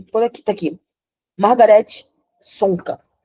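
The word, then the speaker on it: Csonka: aqui tá aqui Margarete sonca É acho que não pronuncia o c né é C sonca mas acho que é sonca que pronuncia é o verdadeiro nome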